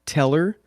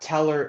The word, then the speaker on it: Tellor: I work at the decentralized Oracle protocol called teller that's spelled te l l o r not to